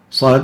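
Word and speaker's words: ص: Sad at the beginning of the surah is pronounced as if there are 3 letters. Sad, alif, dal, sad.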